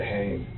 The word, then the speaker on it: Hoehn: We say it Hain, Hain? like the N word with no S.